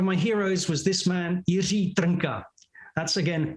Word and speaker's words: Jiří Trnka: One of my heroes was this man, Jiří Trnka. That's again, Jiří Trnka. Very difficult to pronounce.